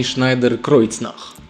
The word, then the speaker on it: Schneider-Kreuznach: Крючзнак Шnйдеer Кроицнах с немецкой компанией Schnйдеer Кройцнах. Вот так это произносится.